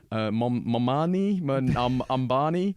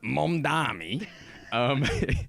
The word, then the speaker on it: Mamdani: It's been a great week for one Ambani. How does the great Andrew Cuomo pronounce it? Yeah, for Zoran Mamdani.